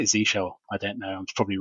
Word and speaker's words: zsh: How do you pronounce? Oh, there's a Reddit. Of course there is. Yeah. So ZSH or Z shell.